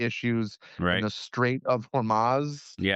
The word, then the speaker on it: Hormuz: some of the issues in the Strait of Hormuz, Yeah. if I'm pronouncing that right. Hormuz, yeah.